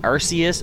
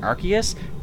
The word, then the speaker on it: Arceus: That also indicates how to pronounce the name Arceus, because people have said Arceus and Arceus. RKS system means it must be a hard K sound.